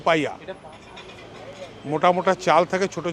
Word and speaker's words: paella: পায়া স্পেলিংটা কি? PAELLA, উচ্চারণ কিন্তু পাইয়া।